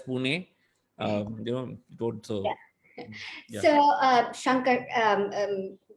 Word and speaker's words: Pune: yeah great question and the first time i said puna i was strictly warned that you know unless you pronounce it right as pune you know so uh